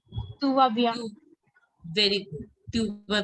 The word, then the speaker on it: tu vas bien: pronounce? Tuva bien.